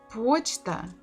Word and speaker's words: почта: Почта, почта, the second word, O is under the stress, it is stressed, so we have to say it as it is.